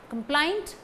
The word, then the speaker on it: complaint: Complaint, stress falls on plaint.